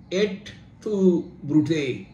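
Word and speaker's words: Et tu, Brute: যা মানুষকে এখনো ভাবায় লাতিনে তার উচ্চারণ ছিল এট টু ব্রুটে ইংরেজিতে ইউ ব্রুটাস আমরা বাংলায় বলতে পারি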